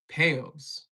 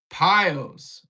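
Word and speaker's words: peyos: If I'm pronouncing, are they payos or pios? And the whole thing in the sheet is not true. Payos. Pios would be Spanish pronunciation.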